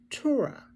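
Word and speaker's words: teruah: the second sound now the third one is Tura t-e-r-u-a-h now that one's nine blast as eight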